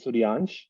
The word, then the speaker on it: Suryansh: It's pronounced as Suryansh.